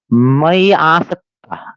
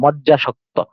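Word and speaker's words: ময্যাসক্ত: যারা একটু সংস্কৃত জানেন তারা তখন উচ্চারণ করতে চান মাইয়াসক্ত, না, মাইয়া, মাইয়া বললে কিছু নয়, এটা উচ্চারণটা হবে কি, যে মাই আসক্ত, মাই আসক্ত, মাই আসক্ত।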